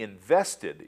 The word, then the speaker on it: invested: Of this list, only invested is pronounced with the ED as an added syllable.